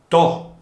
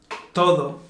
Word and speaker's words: to: Bueno, el siguiente, vamos a decir, sonido es to. ¿Qué es esto, Juan? Todo, Ah, es como para pa, pues todo to.